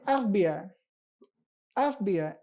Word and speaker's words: FBI: FBI, FBI, एफ, तो एन का sound. देखिए यहाँ पर मैंने इसको एक्सप्लेन करा, FBI, तो यहाँ पर जो साउंड है ये वोवल का साउंड आ रहा है, तो NFBI।